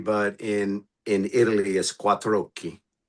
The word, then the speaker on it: Quattrochi: Quatro and then oki. Quatroi. And you run it together.